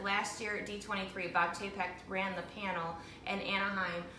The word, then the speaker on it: Chapek: Bob Chapek, who is the president or vice president.